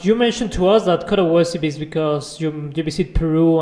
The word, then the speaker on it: Coda Wassie: mentioned that this canyon, it's actually not spelled like my name, so I spelled it phonetically. If that makes so, like how you would, like how you'd pronounce it is Coda Wassie.